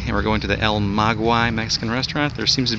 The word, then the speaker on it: El Maguey: go how do you pronounce this place or el maguie we're gonna find out all right we've learned it's pronounced el maguey there's two h's and children's on the menu